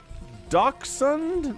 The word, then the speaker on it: Dachshund: It's pronounced Dachshund? My goodness, my world has been opened. I had no idea. I think everybody in my life also is mispronouncing it because I never heard anybody pronounce it that way in my ever existence. Is this like a thing where it's the German pronunciation? The accurate pronunciation is the German one because it's a German breed, but then Americans change